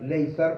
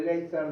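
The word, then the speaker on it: Lazar: que se llama así, yo la voy a pronunciar Leizar, porque la verdad que estoy tratando de ver de dónde viene. Pero bueno, para mí, o sea, como vive en el mundo anglosajón, es Leizar, ¿sí?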